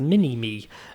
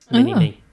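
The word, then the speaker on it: Minimi: And Chris was able to unlock a heavy machine gun known as the Mini-Me, and that is spelled M-I-N-I-M-I. Mike, Indigo, November, Indigo, Mike, Indigo. Mini-Me.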